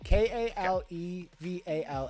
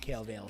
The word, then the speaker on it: Kalevala: K-A-L-E-V-A-L-A. Oh yeah, it's not Kale Vale. Sorry, I'm wrong.